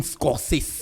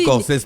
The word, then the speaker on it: Scorsese: Martin Scorsese. Oui, Scorsese. le réalisateur... Scorsese, c'est 2 S.